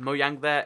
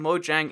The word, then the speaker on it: Mojang: mo yang it's because in Swedish it's a J and also a lot of languages the J is pronounced like a Y sound and that's why it's